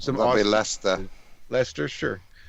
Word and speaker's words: Leicester: Physics students from the University of Leicester in the UK, help me if I'm pronouncing that wrong, captured some That'll be awesome... Leicester. Leicester, sure. What a great way to spell Lester.